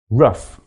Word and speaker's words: rough: let's look at them one rough which rhymes with puff cough which rhymes with